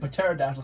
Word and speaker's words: pterodactyl: And yes, I said pterodactyl because there's a P, even though the P is silent.